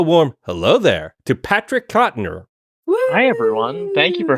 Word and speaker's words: Cotnoir: Please give a warm hello there to Patrick Cotner. Hi everyone. Thank you for having me. Thank you. You know, in the in the pre-show preamble, I forgot to ask, is your last name pronounced Cottonor?